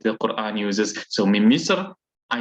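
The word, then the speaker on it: مصر: Now, yes, you will find, especially when you find Egyptians, then they will talk about Masr. Some of them will pronounce it in this way, but the proper way is Min Misr.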